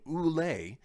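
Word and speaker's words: ūle: al for instance was originally oulay in old english and it's that long ooh sound at the beginning that suggests the owl's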